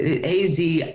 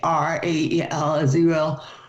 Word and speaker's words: Azrael: I always have a problem pronouncing this, but Azrael, Azrael is how I pronounce it.